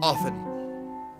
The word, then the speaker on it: often: Do you pronounce the T in often? I don't. I say often.